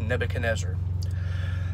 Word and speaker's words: Nebuchadnezzar: Okay, so in Daniel chapter 3, there's a character named King Nebuchadnezzar. It's a very long name, but yes, it's pronounced Nebuchadnezzar.